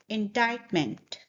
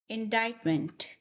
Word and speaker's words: indictment: So the correct pronunciation is indictment. Say it with me, indictment.